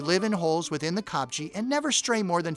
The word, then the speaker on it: kopje: Another full-time resident of the kopje, that's spelled Kopje, is the klipspringer, one of the small antelope.